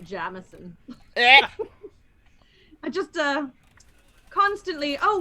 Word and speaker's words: Jameson: from the very start as we started discussing jamison i now have ex-in-laws used to pronounce it jameson i just uh constantly